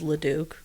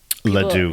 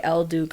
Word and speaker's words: L'Duke: The current name is LeDuc. LeDuc. Yeah, people say El Duke a lot, which I overestimated people's ability to like look at a word and pronounce it right And fuck it up, yeah.